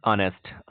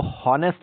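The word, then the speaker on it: honest: ध्यान रखना इसको हॉनेस्ट नहीं कहते हैं। और हॉनेस्ट बहुत सारे लोग पढ़ते थे और पढ़ते हैं अभी भी। और मैं अपनी बात कर रहा हूं कि मैं भी इसे हॉनेस्ट पढ़ता था।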